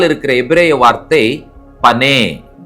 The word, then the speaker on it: פָּנַי: என்று மொழிபெயர்க்கப்பட்டிருக்கிறது இந்த வார்த்தைக்கு பின்னால் இருக்கிற எபரேய வார்த்தை பனே உச்சரிக்கிறேன் பே நூன் யோ உயிரெழுத்துக்களோடு உச்சரிக்க வேண்டும் என்று சொன்னால் பே காமட்ஸ் நூன் பெட்டாயோ பனே பனே என்ற எபரே வார்த்தைக்கான டைரக்ட்